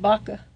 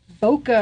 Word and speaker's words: Baca: I'm glad you said Baca, by the way. Well, that's how it's I know, pronounced. but you'd be sometimes surprised that they say Boca or different things.